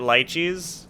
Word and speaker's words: lychee: Sorry, is it lychees? When I come back, we will find out whether or not it's pronounced lychees.